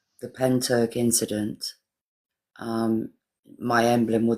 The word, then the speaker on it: Pentyrch: It's not Pentric. It's not Pentric. Andrew, how do you spell it? It's um P E N T Y R C H. That's Penturk because it's it's Welsh.